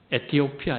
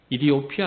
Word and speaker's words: 에티오피아: 아프리카에서 유일하게 참전한 나라는 에티오피아 입니다 이디오피아 라고 더욱 발음 하기도 한데 디오 피아 아프리카 나라들